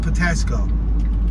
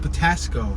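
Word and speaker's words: Patapsco: Let's make this right on Patasco. 1500 Patasco. Which is spelled Patasco with a P, but I believe the P is silent.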